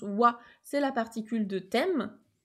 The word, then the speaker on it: は: premières le voit donc qui s'écrira mais qui se prononce voix c'est la particule de